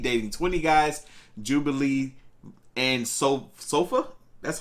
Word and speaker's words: Solfa: 20 guys, Jubilee and Solfa.